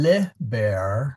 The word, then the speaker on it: liber: a long eye and then liber which is a short eye.